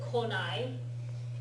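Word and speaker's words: 来ない: If you write it with the nai, then you need to remember to pronounce it konai.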